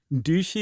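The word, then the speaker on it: Duhey: they met a man named Jack douchy or dhy let's go with dhy um Oh I thought it was Des is it oh doui d u h e y duchi is definitely a pronunciation of that so you say duch huh I thought it was but I I I actually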